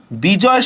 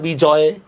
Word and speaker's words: বিজয়: বিজয়, খেয়াল করেন বিজয় শব্দের মধ্যে দেখেন তো অয় উচ্চারণ আছে কিনা? বিজয়, এই জন্য আমরা কিভাবে লিখবো?